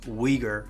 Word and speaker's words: Uyghur: Asian City of kashgar my native language is ur which is pronounced as weager in English over the years I've